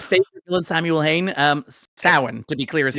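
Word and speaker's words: Samhain: entirely um Let me see if I can pronounce I have learned nothing from the Halloween franchise if we're being honest. Sam Hayne. Sam Hayne. Sam Hayne. Everybody's favorite villain. Samuel Hayne. Um Sin to be clear is how you pronounce that.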